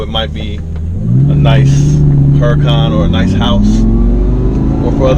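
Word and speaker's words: Huracán: So let me pronounce that right. That's how you say it, Huracan.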